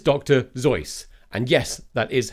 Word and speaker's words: Zoidberg: Zoidberg. And yes, that is how you pronounce it.